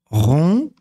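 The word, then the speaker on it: rond: fin un re on Ron le D ne se lit pas à la fin le se a sa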